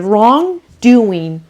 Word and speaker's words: wrongdoing: فقط بچه دقت بکنین که wrongdoing انگار که جی رو وقتی دارین تلفظ میکنین ته زبونتون میچسبه به سقتون.